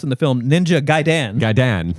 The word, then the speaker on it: Gaiden: Now, they pronounce in the film Ninja Gaiden. Gaidan. No, I always went Gaiden. Okay. I've heard Gaiden, but I think it's Gaiden. Gaiden or Gaiden are acceptable. Gaidan, not.